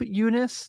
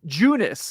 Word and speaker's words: Junis: So it's Junis. Okay, so I actually was wrong. It's Jakob Junis.